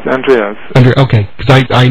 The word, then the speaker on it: Andreas: we are talking with Andreas of the energy Chi Wellness Center I I hope I'm pronouncing your name correctly um is it Andre or yes Andreas and okay cuz I